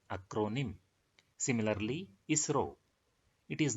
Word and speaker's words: ISRO: So ISRO have been taken and it is pronounced as a word ISRO.